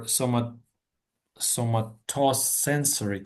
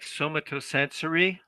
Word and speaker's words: somatosensory: Well, except for somatosensory cortex, which somatosensory.